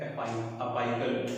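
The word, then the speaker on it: apical: तो अक्सर हम लोग ये गलती करते हैं कि एपाइकल को एपिकल बोलते हैं, नहीं, सही क्या है, सही प्रोनाउंसिएशन क्या है, अपाइकल मेरिस्टेमेटिक टिश्यू।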